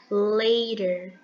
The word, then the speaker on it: later: a gente vai pronunciar a gente percebe que não pronunciamos o t daquela forma que costumamos é pronunciar no português o t nesse caso ele vai ter um som da letra R later later see you later